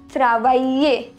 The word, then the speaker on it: travailler: Travailler. Here double L is pronounced as ye. Travailler.